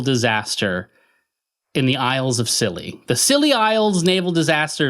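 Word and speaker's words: Scilly: So, basically as far west as England goes is the Silly Isles, and it's spelled S C I L L Y.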